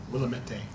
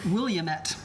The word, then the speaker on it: Willamette: Willamette. Willamette. Yes, no. It's Willamette. It's Dinamite. No. I've heard it pronounced Williamette.